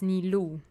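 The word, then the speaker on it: Nilou: to the estate okay the pronunciation is nilu because it's not Japanese so okay nilu yes that's her I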